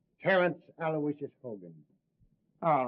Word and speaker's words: Aloysius: Terrence Aloysius Hogan. All right, Hogan. You're not a bad guy. I guess you deserve a break. Yeah, spell that middle name right. It's Aloysius. Aloysius.